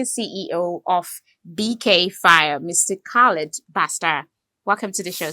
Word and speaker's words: Khaled: But just to confirm, did I pronounce the name right? Yeah, yes, right. Basta Khaled.